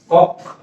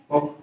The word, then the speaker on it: কক্ষ: আমরা যদি পরেরটা দেখি, কক্ষ, ক কিউ, কক্ষ। সুপ্রিয় শিক্ষার্থী, এটাকে যদি আমরা ভাঙি তাহলে ক ক এর মতোই থাকবে, ক্ষীয় ক্ষীয় সমান উচ্চারণ হয় ক খ।